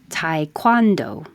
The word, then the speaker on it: taekwondo: Taekwondo. Or maybe taekwondo, but I know most Americans say Thai, so taekwondo.